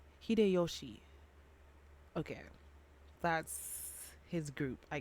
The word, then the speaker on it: 秀吉: Or Hideshiro. No. Okay, let me not stop pronouncing names, but Hideyoshi.